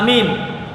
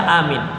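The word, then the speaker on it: آمين: Tapi perlu saya ingatkan, bacaan amin bukan amin. Itu salah. Umumnya kita di masjid bacanya begitu. Ghairil maghdubi alaihim waladdallin. Amin. Panjang banget minnya. Ya. Salah bacaan seperti itu. Dia amin. Minnya cuman 2 harkat.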